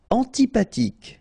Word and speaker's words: antipathique: Antipathique. So remember, this H doesn't exist phonetically. So, antipathique. Okay, final E, not pronounced.